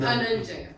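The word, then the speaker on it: धनञ्जय: Again, add or more air to the dha. Nibadnanti. Dhananjaya.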